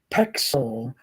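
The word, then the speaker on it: Pexels: One of them is spelled just a little different from pixel. It's Pexel, Pexel, Pexel.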